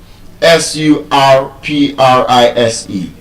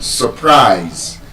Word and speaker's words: surprise: r i s e, that word, surprise, as a verb and as a noun, it is stressed on the second syllable. Because there's a schwa sound in the first syllable, the s u r, the u has a schwa sound. So, it's not so. It is surprise.